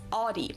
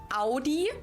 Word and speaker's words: Audi: the first one is Audi. Most Americans that I know pronounce it like I just said it. Audi. In German, we say Audi.